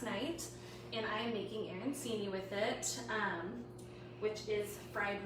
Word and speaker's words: arancini: Arancini? Oh, is that right? Catherine was saying that you do it with a CH sound.